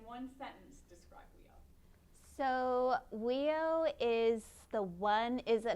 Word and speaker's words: WEIO: the world eskimo indian olympics affectionately known as weo that's how you pronounce it amber just got her mba from